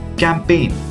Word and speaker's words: campaign: Here in these words, we are not going to pronounce the letter G. So try to pronounce. The first pronunciation is foreigner, assign, design, align, campaign.